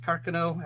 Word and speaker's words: Carcano: And yes, it is pronounced Carcano. At least all the Italians I know tell me it's pronounced Carcano, not Carcano.